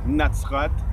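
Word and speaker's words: נצרת: Par rapport à l'étymologie du mot Nazareth, il faut savoir que Nazareth se dit en hébreu Natsrat et que ce mot est constitué sur une racine de 3 lettres, Nun, Sadi, Resh, qu'on prononce Netzer.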